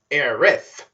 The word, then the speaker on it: Aerith: bumps into aerith sidenote there's often debates back then on how people are supposed to pronounce her name those being air s or areth for this since i played ambi in the remake first i'm calling her aerith anyways general finds avalanche